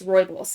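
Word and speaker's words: rooibos: word on the screen for those are listening it's spelled r o o i b o s Roy boss it just stands for red bush in Dutch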